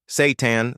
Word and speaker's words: seitan: Seitan 39G protein per 100 gl. Seitan, pronounced seitan, might not be on your radar, but it should be.